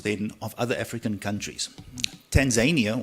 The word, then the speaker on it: Tanzania: Tanzania or Tanzania I think is the correct pronunciation is a country that's very focused on the socialist model.